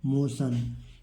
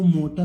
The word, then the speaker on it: motion: मोशन। इसको मोटन मोटन नहीं पढ़ेंगे, बहुत सारे बच्चे इसको गलत उच्चारण करते हैं।